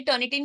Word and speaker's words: Turnitin: आज स्पेलिंग देख लीजिए टर्न इट इन ये सबसे ज्यादा मिस प्रोनाउंसड वर्ड है टर्न इट इन ठीक है तो याद